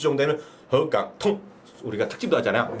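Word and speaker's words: 沪港通: 나중에 우리가 또 다음 주 정도에는 허강통 우리가 특집도 하잖아요. 발음도 배워서 후강통이 아니야. 통 끊어야 돼. 통 발음. 허강통. 맞죠? 통이 일성일 건데 아니야. 올리는 게 아니라 덩이 아니라 허강통. 통이거든요. 통 일성인데 몰라.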